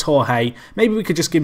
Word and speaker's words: Jorge: it's this guy who his name's George I believe it's Jorge in Spanish which I guess is how it's said in Brazilian 2o because brazilian's Portuguese kind